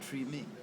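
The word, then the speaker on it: Tremé: pure French um and I've heard TR pronounce a couple of different ways a lot of folks from the area call it tree me uh Glen David Andrews calls the tree me sometimes if you look at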